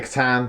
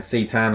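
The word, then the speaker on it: C'tan: of the sita the katan sorry i keep pronouncing wrong i've got very used to saying see tan i should be saying katan so the katan um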